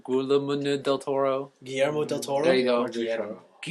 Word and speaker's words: Guillermo: Guillermo del Toro. Guillermo del Toro. There you go. Guillermo. Guillermo. There you go. Oh, you just have to say it in a Spanish accent. Now I got it. Guillermo.